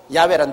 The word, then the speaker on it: 야훼: 여호와란 말은 원래 올바른 히브리어 발음은 야훼입니다. 야훼란 발음이 우리 한국식으로 번역해서 여호와라 하는데 원래 정확한 발음은 야훼 하나님이신 것입니다. 그러므로 사닥다리 위에 야훼 하나님이 서 계셨습니다.